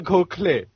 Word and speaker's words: Gokhale: So the screenplay was written by Sandhya Gokhale. I think that's how you pronounce it. And she wrote... Oh my God, Asim, you're such a Firang man. It's Sandhya Gokhale.